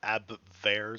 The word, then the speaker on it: Abwehr: Abwehrs? Because I know that the W in German is pronounced like a V oftentimes.